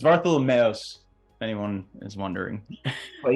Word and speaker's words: Vartholomeos: It's Vartholomeos. It's Vartholomeos."